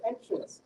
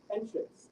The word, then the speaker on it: entrance: So creating the word entrance, entrance. However, in the verb form, it is stressed on the second syllable, hence creating entrance.